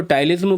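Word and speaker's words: ptyalism: जब सेम चीज mucus membrane में होगी तो आंखों से लैक्राइमेशन, एक्सेसिव सलाइवेशन जिसको टाइलिज्म बोलते हैं, पी साइलेंट होता है, मैं पटाइलिज्म बोलता हूं, बोलने में अच्छा लगता है, और इंटेस्टिनल म्यूकस मेम्ब्रेन से वाटरी डायरिया होगा।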